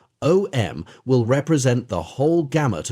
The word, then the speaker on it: Om: The three letters a u and m pronounced in combination as om r are the generalized symbol of all possible sounds.